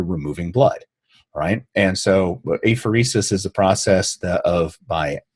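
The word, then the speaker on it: apheresis: pronunciation guide on it regenerative a fiercest I think is how you pronounce that what does that mean and did I do that right well no you didn't regenerative a phoresis a phoresis a phoresis a phoresis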